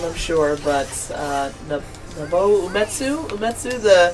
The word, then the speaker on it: Nobuo Uematsu: mispronouncing his name, I'm sure, but Nobuo Uematsu? Nobuo Uematsu.